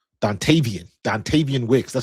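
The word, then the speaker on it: Dontayvion: So um when you got um especially with the signing that we had yesterday with the uh Eagles receiver um was it Dantius? Dantavian.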